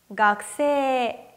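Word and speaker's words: 学生: 깍 쎄 각 쎄 원래는 각 쿰 3이라고 발음 하는데요 일단 3 이 발음은 장 음이 확실하고 요 앞에 있는 각 후 에서 쿠 발음이 안 나죠 이렇게 코 뒤에 사 시 스 세 소 라 과는 사행 바람이 나올 경우에는 요 쿠 발음을 거의 들리지 않게 발음 하셔야 되요 그래서 앞에 있는 가 에다가 기억 받침을 쓰신다고 생각하시면 되는데 한번 다시 읽어 볼게요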